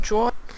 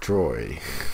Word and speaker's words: draw: And I try to learn how to paint and draw. I try to learn how to paint and draw when I was little. Draw, not droy.